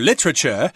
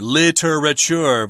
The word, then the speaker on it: literature: literature unit today or literature if you're speaking British English I think I like the British pronunciation better because it's only three syllables whereas the American pronunciation is for literature versus literature yeah I